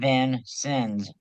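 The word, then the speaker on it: Vincennes: And it is pronounced Van Sins V I N S I Ns.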